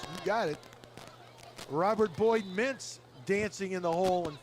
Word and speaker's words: Meents: But it's Boyd Mintz is how they pronounce that.